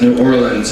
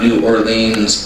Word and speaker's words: New Orleans: I want to say something about this poem is that when you live in New Orleans, you pronounce it New Orleans and not New Orleans or Nolans, or as the kids call it, NOLA.